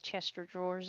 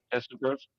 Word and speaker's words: chest of drawers: Talking about mispronouncing things, I forget how the proper way to say Chester drawers is. Chesterfield. did. Chest of drawers.